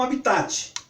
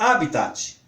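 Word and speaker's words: hábitat: E eu sempre pronunciei como habitat. Acho que como vocês também pronunciam, habitat dos animais. Mas estava na revista com um acento. Eu falei, bom, se está com acento no primeiro A, como proparoxítona, ela vai ser pronunciada como habitat.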